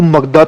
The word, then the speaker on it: मगध: सबसे पहले जो मगधा था, मगध कह सकते हो आप, हिंदी में मगधा कह